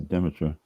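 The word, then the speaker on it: Demeter: Uh I think it's Deitra. D E M T E R.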